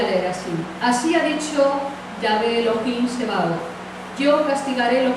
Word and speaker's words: Yahweh: Perdona, yo me gusta llamarle a la versión original el nombre de Jehová, que nosotros decimos realmente es YHWH, que lo más cercano es la pronunciación Yahweh, y Dios es Elohim.